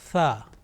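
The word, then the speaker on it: ث: Now how to pronounce letter Thaa, which is the 4th letter of alphabet. To pronounce this letter correctly, it is important that we touch the tip of our tongue softly to the edges of our top 2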